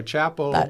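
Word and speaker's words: Chappell: I'm told that you pronounce it. Is it Chapel? I think that's what my kids said. Okay. So Chapel.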